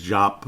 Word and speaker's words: Diop: been out there before it's jop it's not dup it's jop Kates jop all right sound